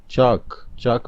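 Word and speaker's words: chalk: चाक में L silent letter है।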